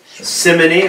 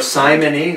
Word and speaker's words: simony: Simony or simony, we heard about that in the last class. You can pronounce it simony or simony.